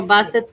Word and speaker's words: Brissette: April Bussett's going to be there. Bussett is how you say it.